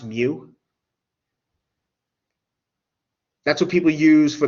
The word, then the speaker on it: mu: the mean people use this greek letter it's pronounced mu that's what people use for the mean this